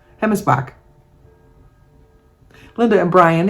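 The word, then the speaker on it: Hemmelsbach: She gave me a pronunciation, so I'm thinking the Bach, because that's Bosch, but I think it's Bach, B-O-C-H. Anyway, she spells her name H-E-M-M-E-L-S-B-A-C-H. And she showed me the pronunciation would be H-E-M-M-I-S-B-O-C-H. So I'm pronouncing that as Hemmesbach.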